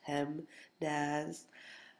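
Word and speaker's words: PEMDAS: dear Aunt Sally or pmaz if you um pronounce it out it's pem Daz um but here's what's the real important thing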